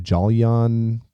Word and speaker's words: Jolyon: to butcher his name, Jolyon Palmer, I think. Yeah, Julian Palmer. It's pronounced Julian. Okay, it's spelled Jolyon.